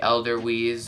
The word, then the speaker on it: Edelweiss: The Edelweiss or Edelweiss, I believe is how it is, or Vise, because I believe they pronounce their W as a V.